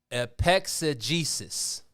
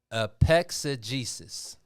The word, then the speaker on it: epexegesis: Epexegesis. Epexegesis. EPEXEGESIX. Epexegesis. So it's an S instead of an X?